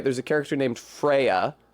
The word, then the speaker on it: Freyja: there's a character named Freya, Freyja. That's the name of a goddess in Norse mythology. I believe the Old Norse pronunciation is Frøya, and that is probably